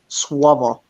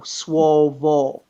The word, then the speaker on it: słowo: The word slave is actually słowo. Okay, so if you were to phonetically spell it, it would be SWOWO, swovo, or VO, right?